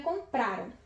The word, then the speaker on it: compraram: E como terminam em ram, a sílaba tônica é o pra. Então, no caso, ela é uma paroxítona.